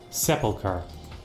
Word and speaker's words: Sepulchre: Sepulchre.